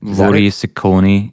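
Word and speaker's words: воры в законе: I think, how do you pronounce it, Sean? Vory Zakon? Vory Zakoni.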